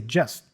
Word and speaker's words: just: we say we say just just and then the T for capped also goes away we we hear cap